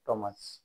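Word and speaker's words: Thomas: এইচ ও এম এস এটা থমাস হবে না উচ্চারণটা হবে টমাস এখানে কে সাইলেন্ট হবে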